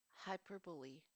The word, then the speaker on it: hyperbole: me see hyper B there are different pronunciations for this word in different accents and in different dialects Let's Take on the most common one for them hyperbole is one of them one of the pronunciations